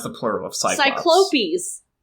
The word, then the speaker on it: Cyclopes: How do you pronounce the plural of Cyclops? Cyclopes. Cyclopes, thank you.